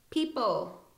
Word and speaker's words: people: right now uh oh people p p don't pronounce the uh the O you pronounce it all like an e p uh Jeopardy Jeopardy